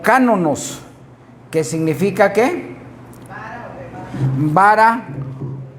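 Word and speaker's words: κανών: Entonces ya vimos ahí que el canon se deriva de una raíz griega que se pronuncia como cánonos, que significa ¿qué?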